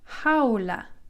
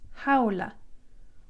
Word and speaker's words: jaula: The letter J is pronounced like an H in English. So jaula, the word for cage is jaula, jaula.